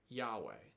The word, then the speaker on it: Yahweh: name of God himself, what scholars think today is pronounced Yahweh. And the reason why scholars have to sort of guess at how this name is pronounced is because they have the consonants, but they don't have the vowels.